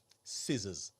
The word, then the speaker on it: scissors: Uh scissors. Yeah. Scissors is is is spelled crazy. Yeah. Sis or something like that. Skis. Yeah. With the C in there.